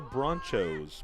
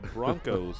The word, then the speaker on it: Bronchos: get the equalizer so the Broncos not the bronchos but the Broncos from Odessa High that is the way they spell it closing in they can